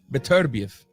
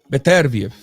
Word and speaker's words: Beterbiev: It's strictly Artur Beterbiev. Artur Beterbiev. That's the correct pronunciations of the man's name and last name, man.